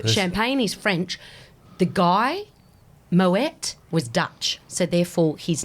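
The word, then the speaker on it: Moët: Well, they would be, but I dare say, like Moe, everyone calls Moe, but it's actually Moet. Okay. And even though it's the champagne is French, the guy Moet was Dutch, so therefore his name is Dutch.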